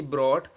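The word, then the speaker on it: brought: या यूजी एचटी आ जाए तो उसमें यूजी साइलेंट रहेगा जैसे सी ए यूजी HT coat B आर ओ यू जीी एचटी ब्रॉट बी ओ यू जीी एचटी बट टी एच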